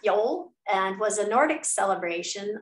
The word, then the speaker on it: yule: um one of them is called yule y-u-l-e pronounced yol and was a nordic celebration observing the winter